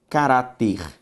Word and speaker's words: caráter: Quando eu olho para a palavra caráter, a sílaba tônica é ra.